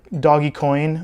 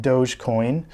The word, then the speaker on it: Dogecoin: and i call it doggy coin or properly pronounced dogecoin it's got its little